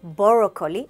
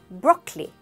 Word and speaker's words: broccoli: Don't say broccoli, it's broccoli, broccoli.